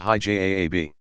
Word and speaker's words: hijab: The majority of women who wear some form of special clothing, technically known as hijab, pronounced hijab, veiling or covering, opt for a headscarf down to the mid-forehead so that it covers all the hair.